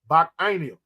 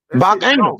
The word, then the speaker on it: Bacchanal: Hey, you're on point, Ike, and that's the proper way to pronounce it, Ike. Bacchanal. Bacchanal.